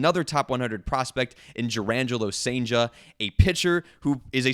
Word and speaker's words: Cijntje: Pronunciation, official, Cijntje. Cijntje, like staying sane, added J at the end.